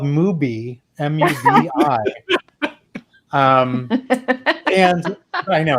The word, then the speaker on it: Mubi: I'm like, are they just mispronouncing the word movie? It's called Mubi, M-U-B-I. And I know it's weird, but anyway, it's movie.